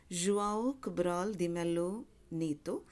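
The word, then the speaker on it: João Cabral de Melo Neto: in about the poet his name is pronounced as have got from different sources because it's a Brazilian name it's pronounced as Guaraldi Melo Neto he's a Brazilian poet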